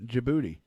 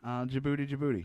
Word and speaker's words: Djibouti: Oh, it's on the southern tip of Saudi Arabia, just to the right of Ethiopia and Djibouti, which, fun fact, that's spelled with a D first.